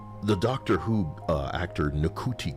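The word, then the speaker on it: Ncuti: Previously, uh the Doctor Who uh actor Niki Gatwa, probably the N is silent.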